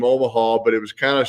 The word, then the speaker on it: Omaha: tennessee baseball and and learned omaha has three syllables when you say syllables yeah rhythmic three syllables omaha it's kind of like a kind of an indicator word uh kelsey to tell your teammates hey get ready we're going to the to plan b and this ball is about to be snapped now so it's a it's a rhythmic three syllable omaha oh my huh that's